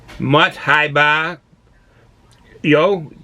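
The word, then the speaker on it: một hai ba dô: of cheers prost uh mutt high bar yo that means one that's how you say it in vietnamese uh we used to say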